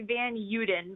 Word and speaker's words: Van Uden: pronounced yes very close it's actually van yodan but we pronounce it wrong it's kind of the americanized pronunciation so you are closer to the dutch original so good work with